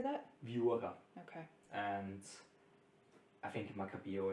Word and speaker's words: Viura: Viura.